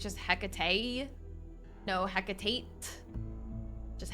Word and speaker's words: Hecate: you're supposed to help do you just not pronounce the T it's just he no Hecate just HEC do you know anything